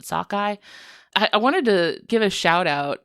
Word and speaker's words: sockeye: The word sakkeye is an anglicized pronunciation of the halum word which is sugi. Huh. Yeah. So, like that is like one of the indigenous words for the salmon. So, English speakers heard this like sugi pronunciation and then did their best and called it sakkeye.